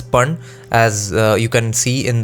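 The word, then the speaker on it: paṇa: p a n a panna or panna but it's actually pronounced as pun as you can see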